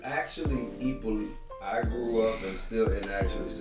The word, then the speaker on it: Hyppolite: It's actually Hippolyte. I grew up and still pronounce it Hippolyte.